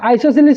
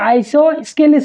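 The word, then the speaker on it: isosceles: ইকুলেটারাল triangle তার পিছ আছে সমদ্বিবাহু ত্রিভুজ অর্থাৎ আইসোসিলিস ট্রায়াঙ্গেল এটা সব আইসো তার পিছ এই এসট সাইলেন্ট হয়ে থাকে মানে এসট উচ্চারণ নয় আইসো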